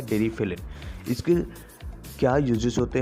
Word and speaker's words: Deriphyllin: इसे कई लोग डेरी फाइनल बोलते हैं, लेकिन इसका सही प्रोनाउंसिएशन होता है डेरिफिलिन।